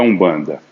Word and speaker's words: Umbanda: Então E como é que você pronuncia? Com o U. O M você pronuncia com o U, assim como o N também. No quimbundo, no kikongo, você vai encontrar N ou M para iniciar palavras. Você pronuncia como se tivesse um U antes.